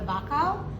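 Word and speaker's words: Wachau: famous neighbor would be the Baka spelled with the W not a B and so group out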